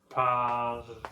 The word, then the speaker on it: parlez: So with vous, you will keep the I sound. Vous parlez. But you won't use the R of the infinitive form if you're interested in writing. If you don't care about writing, it doesn't matter. Just remember it's I. If you care about writing, it's a Z. Vous parlez.